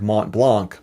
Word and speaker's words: Montblanc: Phonetically, it reads like Mont Blanc, but the actual pronunciation is closer to Mont Blanc.